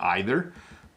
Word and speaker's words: either: to me I'll take either notice I pronounce either and either I say it two ways I got to look